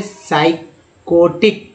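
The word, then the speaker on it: psychotic: उसके बाद दोस्तों देखिए साइकोटिक, साइकोटिक, एच यहाँ साइलेंट है, एच यहाँ साइलेंट है, एच यहाँ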